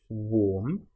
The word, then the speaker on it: warm: Now, warm and charm, you'll notice both have the same a r m in them, but one is pronounced warm. So, it's the or sound, the o r sound, and the next is r, the a r sound, r.